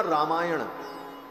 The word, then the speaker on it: रामायण: और रामायण में जो न है अंत में, वो व्याकरण के नियम से ण हो जाता है उच्चारण के समय में, तो शब्द बना रामायण।